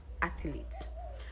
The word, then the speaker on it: athlete: So there's no vowel between the TH and the L. It's just athlete, not athlete.